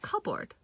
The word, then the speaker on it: cupboard: English as well so if you think of cupboard cupboard now on its own this is cup and this is board but when you're pronouncing it together you pronounce it cupboard cover so this P sound goes away here a hand back